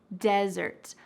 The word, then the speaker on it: desert: desert desert there's emphasis at the beginning de desert i'm going to the desert desert wonderful so